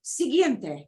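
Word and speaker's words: siguiente: Uno important okay and then they go ah sigiente next next up yeah this word means next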